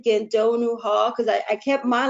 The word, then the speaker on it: Gandonou: saw my pronouncing that right yeah doctor huh um it's actually dr. Meegan Gedo new ha because I kept my last name and